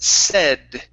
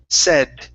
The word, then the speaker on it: said: okay very nice um right here this word is pronounced said so instead of saying s okay or say okay this a a I in the middle is a short e sound it's e said said okay excellent okay so